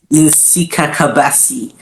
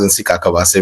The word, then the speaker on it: Nsikakabasi: Um I'm actually really glad. I mean like the way you you actually pronounc in Sikabasi. I mean that's that's absolutely very good.